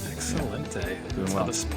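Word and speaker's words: excelente: Excellente. That's how the Spaniards say it.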